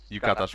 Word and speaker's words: yukata: I'm saying it wrong. I think Yukata. Yukata's right. Yeah. Yukata. That word. I don't know why. I'm always saying that word wrong.